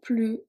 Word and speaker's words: plus: Okay, so we don't pronounce the S.